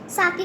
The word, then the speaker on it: sake: तो इसको सेक नहीं बोलना गाइस, साके, ठीक है, इट्स कॉल्ड साके। देखो साके क्या होती है, अ पॉपुलर जापानीज ड्रिंक। सा इज प्रोनाउंस्ड लाइक फा इन फादर एंड के राइम्स विद वे।